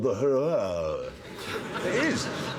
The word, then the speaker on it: Huayra: It's called the Huayra. It is. It's spelled h u a y r a.